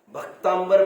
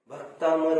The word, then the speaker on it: भक्तामर: भक्तांबर भक्तांबर ऐसा नहीं बोले बार बार। भक्तामर वर्ड है, भक्तामर, भक्त प्लस अमर, अंबर कहां से आ गया?